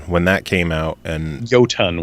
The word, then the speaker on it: Jotun: that came out and go ton would be how that is pronounced I know but when I interviewed them they're like we just go with Jotun since that's how everybody else says it now so every